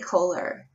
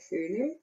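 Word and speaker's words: Köhler: you haven't there's probably kohler and i know i don't say his name right i have a german friend of mine said it's something that cooler true okay cooler um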